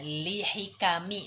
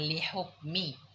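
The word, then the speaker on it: لِحِكَم: Ini nih bacanya lihikami bukan lihukmi. Nah, ini bukan lihukmin tu bukan lih. Hikmah jamaknya hikam.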